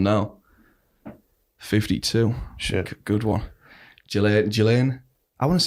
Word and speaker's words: Ghislaine: And in French it can be pronounced either Ghislaine or Ghislaine. But in British, as is the case for her first name is generally pronounced Ghislaine Maxwell.